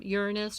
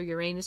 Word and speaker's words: Uranus: It is what Uranus, or Uranus, depending how you say it, is in.